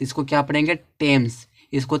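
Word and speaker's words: Thames: तो इसको क्या पढ़ेंगे टेम्स इसको थम्स नहीं पढ़ा जाएगा टेम्स पढ़ा जाएगा टेम्स माने टेम्स नदी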